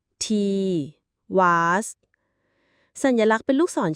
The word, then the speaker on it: Tiwaz: ตัว อักษร ที่ 17 ตีวาส ต่อ มา คือ อ่าน ว่า te was สัญลักษณ์ เป็น ลูก ศร